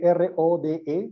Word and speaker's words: Rode: Por ejemplo, yo edito mucho en un programa que es el programa de Rode, que se escribe R-O-D-E, Rode, que es un programa de edición que